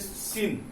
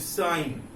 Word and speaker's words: sin: You have to not pronounce it सिन, that is साइन.